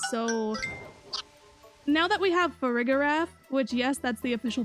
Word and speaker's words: Farigiraf: Now that we have Farigiraf, which, yes, that's the official pronunciation, unfortunately.